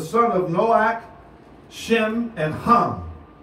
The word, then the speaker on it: Ham: of Nowak Shem and hum not pronounced ham pronounced hum and japhet okay because